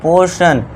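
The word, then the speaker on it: portion: अब देखिए टी के बाद आई ओ आ गया तो इसे क्या पढ़ेंगे? पोर्शन सलम वाले सा का साउंड।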